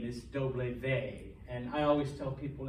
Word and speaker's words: doble ve: that's why um but the official name is doble vey and i always tell people it kind of